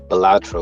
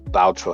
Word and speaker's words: Balatro: to be Erdtree or Balatro or Baltro, however you pronounce it. I think it's Balatro. I remember there being 2 A's in it, saying that Wukong's